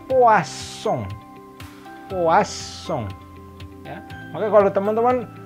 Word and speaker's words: poisson: Nah, kalau yang ini, double S itu berbunyinya jadi S. Maka kata yang ini, ikan, itu dibacanya poisson.